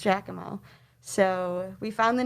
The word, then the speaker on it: Jackamo: It's spelled very strangely, not how we spell it. It's kind of spelled like Jackie Mac, but it was pronounced Jackamo.